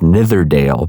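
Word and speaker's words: Nidderdale: Gill which ran into the river ndale pronounced netherdale by Russell in fact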